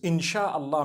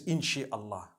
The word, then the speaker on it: inshallah: together inshallah inshallah but we know in the Arabic it's three separate words if Allah Wills right how do you say create Allah you would say is the it is the instruction right the command inchi means to create no one says inshi Allah they say insha Allah that's what it